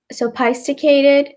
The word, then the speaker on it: sophisticated: So if you sound it out, আপনারা যদি break up করে বলতে চেষ্টা করেন, pronounce করতে চেষ্টা করেন, then it's sophisticated or sophisticated, but it's actually sophisticated. P এবং H টা একসাথে make an F sound.